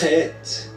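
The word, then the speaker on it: ח: E o het vai ter som de ha na pronúncia do pálego hebraico aqui em cima. Ó. Ha é gutural, é com a garganta.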